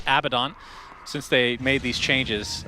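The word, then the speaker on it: Abaddon: seen a ton of a badden since I actually pronounce it correctly there by accident my bad abidon since they made these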